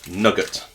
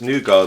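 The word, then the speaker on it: nougat: got overpowering nouar or nugget um nugget it's Nar the tea is Silent not the way you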